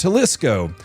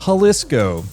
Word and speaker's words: Jalisco: Also, apparently it's pronounced Jalisco.